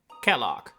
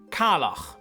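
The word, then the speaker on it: Caellach: my hilarious comedy bit, Kellogg. or as it's supposed to be pronounced in its home nation of Ireland, Kalak, meaning the c ae is now pronounced ka.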